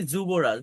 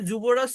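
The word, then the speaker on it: Yuvraj: সিং বলি আমরা দেখবেন নামের স্পেলিং এ কিন্তু থাকে ইউরাস ওয়াই থাকে কিন্তু আমরা বলি যুবরাজ দেখবেন এই যে যাদব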